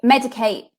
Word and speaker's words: MEDIK8: So Medicate is one of the best brands out there for retinols. Spell that for me.